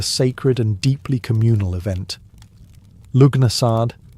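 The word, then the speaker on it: Lughnasadh: Lugnasad, pronounced Lunasar, the Celtic festival honouring Lugh, the god of light, craftsmanship, and war.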